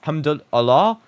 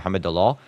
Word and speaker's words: Hamdullah: Yes, its name is Abdurazak Hamdullah. And I completely mispronounced his last name there, Hamdullah.